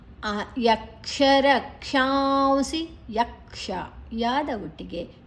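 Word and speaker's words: यक्षरक्षांसि: ಯಕ್ಷರಕ್ಷಾಂಸಿ ರಕ್ಷಾಂಸಿ ಕ ಇದು ಆಘಾತವನ್ನ ರ ದ ಜೊತೆ ತಕೊಳ್ಳುವ ಕ್ಷ ಮತ್ತೆ ಷ ಷಣ್ಮುಖ ಷ ಅಡಿತ್ತಿದೆ ನಂತರ ಅಲ್ಲಿ ಅನುಸ್ವರದ ಉಚ್ಚಾರಣೆ ಉ ಅಲ್ಲಿ ಎರಡು ಅಕ್ಷರಗಳು ಅಂದ್ರೆ ಇಲ್ಲಿ ಕ್ಷ ಮತ್ತೆ ಸಿ ಇದರ ಮಧ್ಯ ಅನುಸಾರ ಬಂದ್ರೆ ಸ ಷ ವ ಈ ಮೂರು ಅಕ್ಷರಗಳು ಬಂದ್ರೆ ನಮ್ಮ ಅನುಸರದ ಉಚ್ಚಾರಣೆ ಉ ಆಗ್ತದೆ ಯಕ್ಷರ ಕ್ಷಾಂಸಿ ರಾಜಸ ರಾಜಸ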